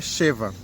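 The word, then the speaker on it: שבע: Só que tá escrito sete em hebraico é cheva. A pronúncia aqui é chava com som de a.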